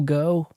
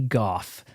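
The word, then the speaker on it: Gough: him to Michael go I think it's PR pronounced Michael go it could be Goff there was a British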